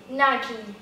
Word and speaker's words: Nike: Nike. Nike, tem um sonzinho um pouquinho mais forte no final, o I.